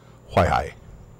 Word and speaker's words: Huaihai: And the first one is Huaihai. Oh, okay. Huaihai.